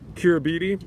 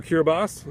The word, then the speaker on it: Kiribati: Oh, he mentioned the corruption that was pretty endemic within Kiribati, now, or Kiribati, I should pronounce it correctly.